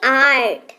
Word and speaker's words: art: जैसे ART, इसको ना अर्ट नहीं पढ़ेंगे, राइट, इसको पढ़ेंगे आर्ट।